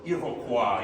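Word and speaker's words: Iroquois: Iroqua. Yes. The French pronunciation.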